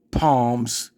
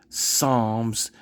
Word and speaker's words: Psalms: Y'all want to hear her incorrectly call Psalms palms and listen to her ignorant fellow friend have to correct her and let her know that it's Psalms and not palms, and then listen to her justify her calling it palms because it's a P on the beginning.